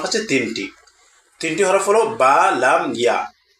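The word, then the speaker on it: بَلَى: আর এই অতিরিক্ত হরফগুলা শুধু লিখার ক্ষেত্রে ব্যবহৃত হয় কিন্তু পড়ার ক্ষেত্রে ব্যবহৃত হয় না।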